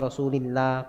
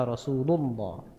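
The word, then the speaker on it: رسول الله: Makanya qala Rasulullah, enggak boleh baca qala Rasulillah, qala Rasulullah, enggak boleh. Bacanya qala Rasulullah.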